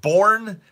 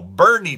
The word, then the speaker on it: Boerne: that's how they bore Bernie no Bernie Texas is how they say it not Jason Bourne it's even though it's spelled that way it's actually said Bernie in Boerne Texas they